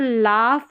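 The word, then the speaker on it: laugh: अब देख लेते हैं यहां पर देखिए यहां पर लाफ में जी एच को फ पढ़ रहे हैं।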